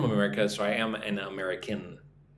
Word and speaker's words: America: Yes, I am from America, so I am an American. Right? When you say you're from America, don't include the N at the end of the word.